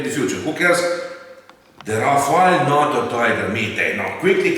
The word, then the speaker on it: Rafale: The Dassault Rafale, French pronunciation is Rafale, literally meaning gust of wind.